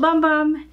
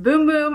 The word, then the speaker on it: Bum Bum: boom-boom cream it smelled bum bum it is but in Brazil it is pronounced boom-boom I have worked with